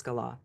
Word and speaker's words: Gala: wife Gala correct yeah well that's how he pronounced it was Gala okay yeah I love to hate her I'm